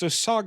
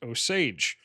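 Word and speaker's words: Osage: Okay, so it's not pronounced oag, it's pronounc pronounced oage. That one actually looks like how it's spelled.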